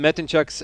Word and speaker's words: Metencu: My name is Metenuk and I'm excited and honored to be here to be presenting the second day of Middle East qualifiers for Epha season 4.